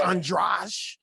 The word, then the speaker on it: Andrade: It's spelled Andrade like Spanish, but it's Portuguese. Yeah. It's Portuguese, so it's Andrade. It's like Garcia. It's Garcia.